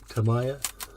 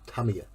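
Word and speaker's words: Tamiya: have a got me I can never pronounce I always say Tamaya and I keep getting told off because it's Tamia apparently so come on let's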